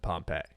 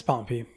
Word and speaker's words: Pompey: known is Pompey or Jay is probably going to pronounce it Pompeii yeah it's Pompey bro you were literally pronouncing his Pompeii two days ago did I I was